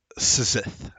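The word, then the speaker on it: Szith: does it say what city the city of Sith okay Sith you spell that for me s z i t appreciate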